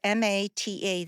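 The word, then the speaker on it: Maté: No, how do I spell that? It's Mata, that's his last name.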